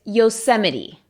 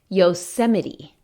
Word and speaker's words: Yosemite: Syria yeah so might pero no la pronunciation correct ax s Yosemite Yosemite in latte no H aside a solo s Yosemite over 3 million people